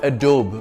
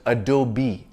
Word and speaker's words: Adobe: a luxury sports car by Lamborghini you can pronounce it any way you please it's not Adobe but Adobe the English word Adobe refers to a brick